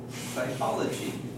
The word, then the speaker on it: psychology: very good practice so psychology now here we have a PS at the beginning we don't take psychology not in English this